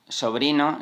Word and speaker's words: sobrino: Other words with S, for example, such as "sobrino" (nephew), they would say /zobrino/, we would be talking about the other phenomenon called ceceo.